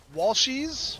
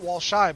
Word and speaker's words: Walshies: Walshies, not Walshy, but Walshies, and S.